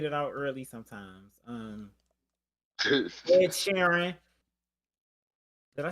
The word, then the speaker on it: Sheeran: Ed Sheeran. Did I say his name right? Ed Sheeran, yes.